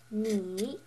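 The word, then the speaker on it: 你: The third tone is the check mark which is pronounced nei. And this actually means you in Chinese.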